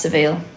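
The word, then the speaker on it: Savile: It's pronounced Saville.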